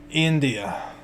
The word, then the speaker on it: Undia: India. It's like India? almost like Indiana. You just got to cut out the Okay. center syllable.